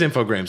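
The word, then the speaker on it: Infogrames: I know I I I been pronounced it all the time infog gra it is infograms I thought I had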